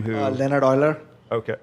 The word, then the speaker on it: Euler: gentleman's name who Leonard Euler okay how do you spell it boiler EU and ER now were there any